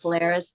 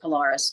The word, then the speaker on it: Polaris: The other one in October that I went to, if I'm remembering this right, was Polaris, or some people call it Polaris. The band members call it pronounce it Polaris, so that's what I'm going with.